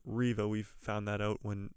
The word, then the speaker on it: Reva: the riva character now a lot of people have been calling her reva and myself included but it is pronounced riva we've found that out